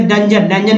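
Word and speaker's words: dungeon: अब चलिए नंबर एक और देखिए, DUN GEON। तो जन पढ़ेंगे इसे डंजन मीन्स काल कोठरी।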